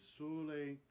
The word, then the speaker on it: sole: And very interesting, the word sole, closed O, correctly rhyming with the open O of carole. It's called a Sicilian rhyme.